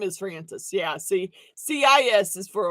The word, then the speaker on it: Frances: It is Francis, and it's spelled Frances, because CIS is a boy's spelling.